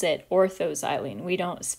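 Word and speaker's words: o-xylene: the single letter abbreviation o xylene but we pronounce it orthozylene we don't pronounce it ozylene when the substituents are separated by three or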